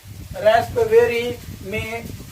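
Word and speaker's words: raspberry: और रेस्पवेरी में जो है पी आपका साइलेंट होगा।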